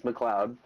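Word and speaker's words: McLeod: don't mispronounce mctish Heritage it's McLoud like the Highlander there can be only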